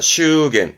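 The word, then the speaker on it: 祝言: 축언입니다. 슈겐. 이것 또한 발음이 슈예요.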